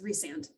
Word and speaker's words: Rhysand: So it is an actual Welsh name. It's Rhysand.